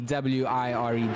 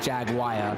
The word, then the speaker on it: Jaguar: Jaguar. So it's just Jagwire, Jaguar. Basically, yes. Okay, I got you. Absolutely amazing. As someone who's obviously British and obviously pronounces it very differently, it is interesting to